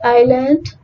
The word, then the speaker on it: island: Silent letter S. The letter S is not pronounced before letter N in some words. For example, island, isle, islet, and isle.